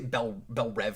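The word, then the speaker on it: Belle Reve: go to bel rev they say bell rev here smallville's pronounced belle reeve i'm used to belle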